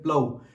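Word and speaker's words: plough: तो वुड की बनी हुई अलग अलग चेयर टेबल, तो आप जानते हैं प्लाउ, PLOUGS, प्लाउ का मतलब हिंदी में होता है हल, प्रोनाउंसिएशन क्या है इसका, प्लाउ।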